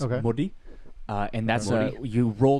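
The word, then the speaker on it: Māori: Modi, and that's Modi? you roll the R. I'm not gonna try and Modi. but pronounce it sounds more like a D.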